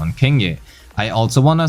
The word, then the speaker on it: Qingyi: Oh, and I do know she's pronounced Qingyi, so if you left a comment on that, thanks for helping out the video.